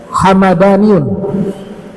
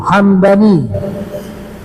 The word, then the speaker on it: Hamadani: tadi nama suku nah belakangan dibacanya hamadaniun hamadani mimnya fathah kalau yang suku tadi mimnya sukun Hamdani kalau hamadani nama kota kalau Hamdani nama su suku disebutkan bahwa kota